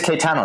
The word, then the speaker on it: Caetano: the other side of the computer is Nelson Kitano I wait Nelson how do you pronounce your name I just want to make sure I get it right it is kaano yeah no you have perfect pronunciation so that's that's awesome you're one of